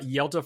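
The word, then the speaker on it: Hjalte: I was way off and then I looked for it and he said it's like Zelda like Legend of Zelda but with a Y instead of a Z.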